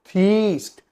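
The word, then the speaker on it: theist: गॉड जो भगवान पे विश् दैट is called थीस्ट टी एच ई आई एस T English pronunciation पे ध्यान देना है थ ठीक है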